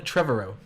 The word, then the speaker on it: Trevorrow: yeah sure yeah Colin Trevorrow Tribble oh that's what I said until early that with her words Trevor and Road Trevor row you have to say Trevor row that's well that's a Trevor row has mutually chosen Trevor